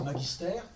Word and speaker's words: magister: Enseignant, entendez-le en sens de maître, mais évidemment, au sens du mot latin magister, faut le prononcer magister, qu'il faut distinguer très